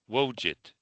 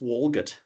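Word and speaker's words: Walgett: A walgit b wget. It's actually pronounced walgut.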